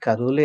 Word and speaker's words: Kalule: My name is Kalule, as you pronounce it right.